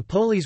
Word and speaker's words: πόλις: Polis, Greek, polis pronounced polis, plural polis, polis pol-s, literally means city in Greek.